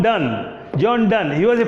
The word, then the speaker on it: Donne: actually a priest john donney oh john don d and annie do you any oh john don as you pronounce okay the pronunciation may be different huh as john dunn john dunn he was